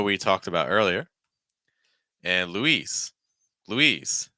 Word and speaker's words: Louise: talked about earlier and Louise Louise so the boy's name is Louis the girl's name is Louise Louise just a note